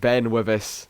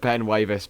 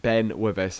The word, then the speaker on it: Ben Wyvis: god i've only just realized now that it's pronounced ben with us instead of ben wyvest but i've just got to the end of